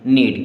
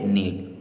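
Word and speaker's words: knead: लिम इसे पढ़ेंगे लिम के एन ई ए डी के के बाद एन आया यानी कि के हो गया साइलेंट अब इससे हम क्या पढ़ेंगे नीड क्या पढ़ेंगे नीड NEET W आर ई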